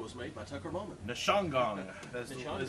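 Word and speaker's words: Ndzishangong: Dalbert Nishongagong, that's the way we're going to pronounce this name.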